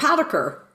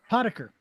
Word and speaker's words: Potiker: Um and the pronunciation. Did I get that correct? No, you did. It was perfect. Poder. Poder.